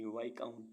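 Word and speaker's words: viscount: वी आई एस सी ओ यू एन टी वाई काउंट वाई काउंट मीस पद ऐसे words जिनमें alphabet T silent रहता है ओ एफ टी ई एन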